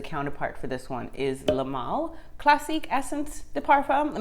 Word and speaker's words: Le Male: So it's called Le Male, or I'm not French, y'all, and I don't speak French, y'all, but I think it's pronounced Le Male Classique Essence de Parfum.